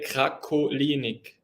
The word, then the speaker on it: Krakolinik: In German, you would say Krakolinik.